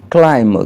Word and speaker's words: climb: Par exemple la lettre B, elle est omise le plus souvent lorsqu'elle est placée après la lettre M. Par exemple, to climb, grimper.